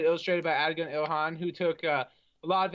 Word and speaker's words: Adigun Ilhan: Adigun Ilhan. It actually is pronounced the exact way it's spelled. Awesome. Okay, we might have got that one right for once then. No weird stuff. Yeah, Adigun Ilhan.